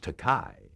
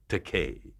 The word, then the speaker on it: Takei: he called me george takai which is a mispronunciation uh of the e.i in my surname but i told him